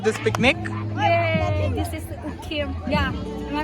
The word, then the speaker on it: Ukiam: This is ukiam. Yeah, am I pronounced right?